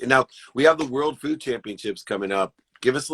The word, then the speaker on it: World Food Championships: First, you're saying the name wrong. It's World Food Championships.